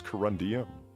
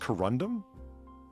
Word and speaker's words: corundum: I thought it was corundium. No, It's just corundum? just corundum.